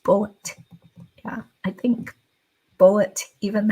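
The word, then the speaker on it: Bulleit: l l e i t but it is pronounced bullet yeah I think bullet even has a YouTube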